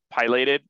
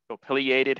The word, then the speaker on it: pileated: cavities so this is a pilated um affiliated however you want to pronounce it woodpecker this is a